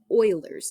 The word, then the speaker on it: Euler: It's called Euler's number. And it's pretty freaking cool. Euler, but spelled like that.